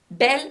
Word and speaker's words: bel: e double l e bell masculine and bell feminine are pronounced the same and it's exactly the